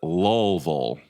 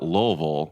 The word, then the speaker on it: Louisville: So the locals pronounce it Louisville. So L-U-L, Louisville. Okay. So if you call it Louisville, you're an immediate tourist and you're from out of town. So if you want to blend in, you just say Louisville.